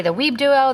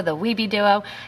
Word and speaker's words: WibeDuo: web duo some might say the web duo the web duo the weeby duo and i just want